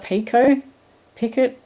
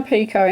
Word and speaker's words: picot: slip stitching, it creates, I call it a picot, I don't even know how to pronounce it properly, P-I-C-O-T, picot.